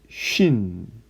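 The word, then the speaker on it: שׁ: 쉬는요, 한글에서 시나 쉬의 발음을 갖고 있고, 타오는 티귿의 발음을 갖고 있습니다. 자, 다시 한번 써보겠습니다. 신, 이게 신이고요. 그 다음에 요게 쉰이 되고, 마지막으로 이것이 타우입니다.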